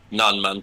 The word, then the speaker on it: Nanman: Nanman. How do you pronounce that? Non-man chief, yeah.